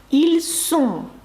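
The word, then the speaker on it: ils sont: та на дієслово мати Зверніть увагу на вимову особливо третьої особи множини ще раз якщо ви кажете вони є тобто дієслово бути так вони є втомлені це буде звучати як ільсон фатігей сом саме звук с якщо ви скажете Вони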